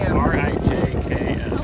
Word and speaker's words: Rijks: Rick's Museum. Rick's It's Museum. Rijks.